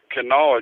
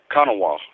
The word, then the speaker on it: Kanawha: here uh you know everybody says canala county but i heard is it's called it's it's a pronunciated uh con konawa like an indian you know kanawa instead of canal i don't know if